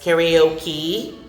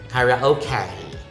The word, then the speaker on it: karaoke: But then again, the standard, according to Merriam-Webster Dictionary, you have 3 choices: karaoke, karaoke, and karaoke. Karaoke. So it rhymes with okay.